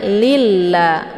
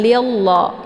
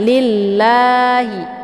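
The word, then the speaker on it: لِلَّهِ: ini ataupun lafaz Allah ini dibaca tepis tipis ya ataupun dinamakan dengan tarqiqun murqqun karena sebelum lafad Allah ini berharakat kisrah yaitu Li Jadi dibacanya lilla bukan lillah ya tapi ditipiskan lillahi untuk lam ini dibaca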